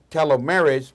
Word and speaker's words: telomeres: as people age or have chronic disease their telomeries become shorter is that right pronunciation yes perfect of Stanford University researchers presented